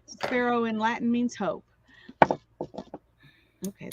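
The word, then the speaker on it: Spero: it means hope yes sparrow is how you pronounce it s-p-e-r-o and it's the um latin word for hope so hannah's has always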